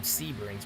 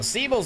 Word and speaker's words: Siebels: mr c todd siebels i don't know why i was calling him sebrings what's the matter with me it's siebel's don't get to